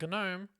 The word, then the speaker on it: gnome: until 3 months ago thinking that gnome was a gnome because why the else would you put a g there that's a fair